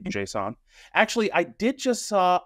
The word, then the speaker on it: JSON: that he thinks it's he thinks it should be pronounced Jason I he's not he's